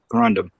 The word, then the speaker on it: corundum: r u n d m corom sapphires what spell that again c o r u n duu mandum Corum corundum yeah it's corundum corundum they called Sapphires Ruby